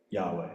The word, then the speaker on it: Yahweh: So that's how they get Yahweh.